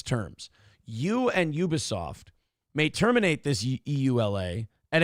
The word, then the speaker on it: Ubisoft: Ubisoft. Yeah, Ubisoft.